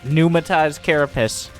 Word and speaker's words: Pneumatized: Like, I think the P is silent, because that's how English works.